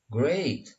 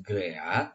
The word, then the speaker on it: great: Kemudian untuk kata yang ditulis great, nah ini dibacanya jangan great, tapi great. Dari E ke I. Great. And you? Great. You? How are you? Great. Nah, jadi great dibacanya bukan great.